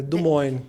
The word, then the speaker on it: Des Moines: É Des Moines. Des Moines. É muito chique, gente. Ainda preciso aprender. Não aprendi nem o espanhol, ainda preciso aprender francês também. Mas você pode chamar Des Moines também.